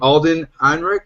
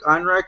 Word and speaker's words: Ehrenreich: We have been saying his name wrong for a whole week. Alden Ehrenreich. Ehrenreich is the new lead for Han Solo.